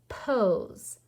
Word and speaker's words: pose: the silent e and it's making the s sound like is because the s is between two vowels it's a vowel sandwich pose we're not saying that e it's silent our next word rhymes